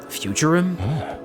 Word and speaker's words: Futurum: Futurum? That's the name of this planet. That's how it sounded pronounced in the local tongue, anyway.